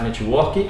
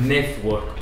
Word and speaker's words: network: A gente não fala network, a gente fala network, ou network, porque esse T pra gente é difícil, então muitas vezes a gente pronuncia T.